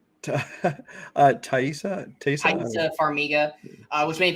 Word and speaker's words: Taissa: how do you say her first name uh taissa tasty farmiga uh which many people know from